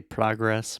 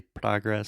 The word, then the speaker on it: progress: So one quick thing, I say progress. Most Americans say progress, so the same sound as prato chato, but you can also say progress. Okay. It's British, but Mm-hmm.